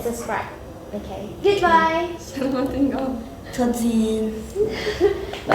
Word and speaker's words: tot ziens: In Dutch we say tot ziens. Tot ziens. Tot ziens. Did I pronounce it right? It's like tot, and that's like one word, and then the second word is ziens. Tot ziens.